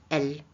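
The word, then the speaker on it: elles: Voilà, elle avec S. On a aussi, pour le féminin pluriel, elle avec S. Et attention, on ne prononce pas le S. Le S est muet.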